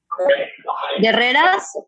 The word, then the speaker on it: Guerreras: But you don't pronounce the U, so you say guerreras.